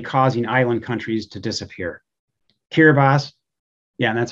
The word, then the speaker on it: Kiribati: Kiribati, yeah, and that's how you pronounce it, Kiribati, consists of 33 islands, all of them no more than 6 feet above sea level, 117,000 inhabitants.